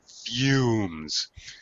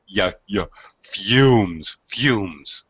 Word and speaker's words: fumes: Exhaust fumes. This is one of those words where there's kind of a a Y sound with the U. Fumes.